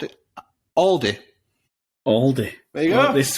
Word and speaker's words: Aldi: a cheap supermarket okay Aldi right so is it pronounced Aldi or is it pronounced Aldi depends where you are all right should it